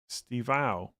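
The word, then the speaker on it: Estêvão: It's pronounced Stivao. Stivao, just Stivao. You don't say the E, or is it Estivao?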